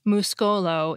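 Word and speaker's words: muskolo: thing as silent letters muscle which has a silent C and E in English becomes Musco low in Esperanto spelled mus Kol oh receipt which has a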